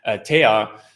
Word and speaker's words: TEA: So I think TEA, as we call it, it's not pronounced T, TEA is really an important entity to help drive the growth of IOTA and Shimmer forward.